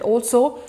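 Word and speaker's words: IELTS: besides total we will also have Al's ie L theist which is pronounced as Al's and the other test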